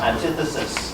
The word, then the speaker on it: antithesis: Antithesis. Yes! Can we give him a round of applause, please? The correct pronunciation is antithesis.